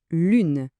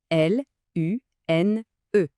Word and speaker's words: lune: Le deuxième mot, lune. L U N E. Vous vous souvenez de notre son U ? Les lèvres dient en avant bien arrondi. Lune.